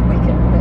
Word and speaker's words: Wycombe: To Wycombe. That's Wickham.